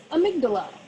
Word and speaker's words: amygdala: All right, so this is the amygdala, like Queen Amidala, nothing rhymes with it.